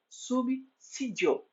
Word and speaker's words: subsídio: de Cinza mas como S de pensar a pronúncia correta é subsídio é Enxergar grafado com x mexer gravado com